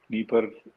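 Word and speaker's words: Dnieper: नीपर डी से शुरू होती है, तो डी साइलेंट है।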